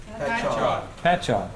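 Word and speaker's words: Patchogue: And then shortly after that there was a Masonic killing in America in in New York actually in uh Pat Pchoke. How do you pronounce that? Patchock.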